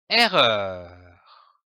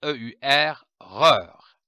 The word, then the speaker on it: erreur: syllabique des syllabes complexes les lettres e et double r se prononce r comme par exemple une erreur attention le E devant un double r se prononce est sans accent dans la lecture et